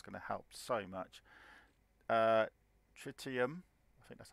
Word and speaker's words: tritium: 700,000 units that's going to help so much tritium that's how you say it is for my